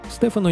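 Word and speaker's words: Stefano: Стефано неплохо говорит по-русски и продолжает совершенствоваться. Марина поначалу неверно произносила его имя, ставила ударение на предпоследний слог, в то время как следует произносить «Стефано».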